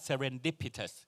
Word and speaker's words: serendipitous: เลย ใช่ มั้ย ครับ คำ นี้ อ่าน ว่า serendipitous แปล ว่า บังเอิญ ผล ลัพธ์ ออก มา ดี